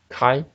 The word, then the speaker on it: chi: a PDF okay so I'll pronounce this chi chi as Chi it's more like a k a i okay chi-square distribution PDF